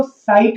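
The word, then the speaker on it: site: एस आई T seat, और जब ई आ जाता है तो साइट हो जाता है।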